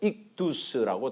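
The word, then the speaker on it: ΙΧΘΥΣ: 그래서 저것을 발음 기호를 읽어보면 이크드유스 이래갖고 익두스라고 되는 거죠.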